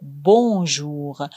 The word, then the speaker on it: bonjour: Mais attention, dans bonjour et bonsoir, le N se prononce pas complètement, il est nasal. On dit plutôt bonjour, bonsoir avec un son qui sort par le nez.